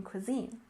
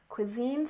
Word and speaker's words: cuisine: next we have American Cuisine you remember that we stress the second syllable in American American Cuisine stresses the second syllable cuisine cuisine American Cuisine refers to